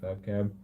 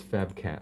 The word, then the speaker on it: Fab cat: so far appreciate it Fab cab no it's Fab cat oh my goodness sorry